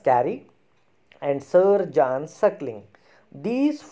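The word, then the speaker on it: Carew: as a lovelies and thomas carey not caring it's a thomas thomas carrie and sir john circling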